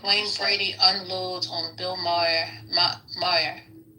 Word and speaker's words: Maher: Moyer? Saying he's a racist. Bill Maher.